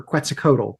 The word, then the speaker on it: Quetzalcoatl: But what we got for Q, and Q is short for Quetzalcoatl, by the way. Oh, well done for pronouncing that.